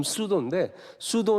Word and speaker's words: pseudo: 'p' 가 묵음인 "Pseudo" 는 " 가짜 " 또는 " 거 짓 " 을 의미 합니다 .